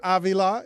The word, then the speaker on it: Avila: Avila is, I pronounced that with a Latin flourish.